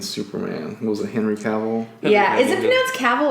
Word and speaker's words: Cavill: now Henry Cavill where I pronounced at cabell so whatever Henry Cavill who's also beautiful and seven